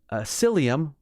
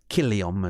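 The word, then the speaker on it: Cillium: Uh, at the ancient Roman site of Psyllium. Well, that's what we say in English, but Killium is how they would have pronounced it.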